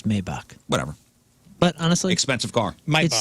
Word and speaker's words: Maybach: in a super sweet mayback sedan is it a mayback or Maybach I think it's Maybach whatever but honestly expensive